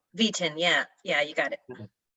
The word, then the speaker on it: Vieten: how do you say your last name v10 v10 yeah yeah you got it and you'll be